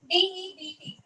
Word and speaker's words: debt: and the last four, DEBT. We usually hear it in the accountancy terms, so we call it as debt. Okay, D is there, but D is silent. We call it as debt.